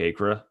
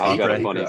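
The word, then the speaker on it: Akre: look we don't really look much at chuck agra is it it's a acree story if you're talking about pronouncing his name i ran into him at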